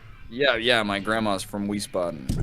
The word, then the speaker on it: Wiesbaden: yeah my grandma's from Wiesbaden these spots these bad not wheeze these buttons I know you guys pronounce the W like a V yeah that's exactly I've